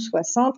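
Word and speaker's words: soixante: Donc 60 s'écrit S-O-I pour le son wa, le X qui sonne S, le an à N et TE à la fin.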